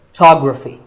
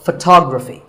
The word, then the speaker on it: photography: photograph but photography so the first syllable becomes fa and the stress goes to the second syllable photography so photography in the same way